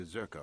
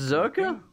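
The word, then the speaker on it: Czerka: to take absolutely zero could ask at the zurka office if any bounce it's pronounced cerca that's in seven senses Urkel while you're at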